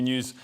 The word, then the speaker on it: NEOS: the equivalent of GB news it'll never work GB news goes out in the real Telly so uh news but it's spelled NEOS but it's new yes yeah that's the correct frustration an analyst that Anders